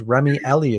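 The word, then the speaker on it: Rémi Elie: a job and even uh i believe it's remy ellie is how you pronounce his name i i didn't look that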